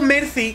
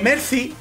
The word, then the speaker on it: Mercy: oando a luz Mercy digo Mercy con c porque Mercy suena con z para mí a ver si diferenciamos un poquito el andaluz cojon Mercy Mercy Mercy suena como más fuerte